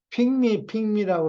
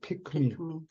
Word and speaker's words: 픽미: 무슨 그룹인지는 잊어버렸는데 핑미라고 그런다고. 그게 아니고 그거 픽미라고 그래야 돼요. 픽미. 기억 발음을 키읔 발음을 해줘야 돼요.